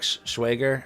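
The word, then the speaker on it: Schwager: So, uh, what I find is like that the author Jack Schwagger, uh, that's how you say his name.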